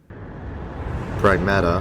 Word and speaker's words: Pragmata: Pragmata, đúng vậy, đó là cách phát âm chính xác, là IP mới nhất từ nhà phát triển và nhà xuất bản huyền thoại Capcom.